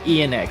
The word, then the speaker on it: Eyan: It's Eyan, so like the X is actually sort of concatenated. Yeah, so it's like an initial.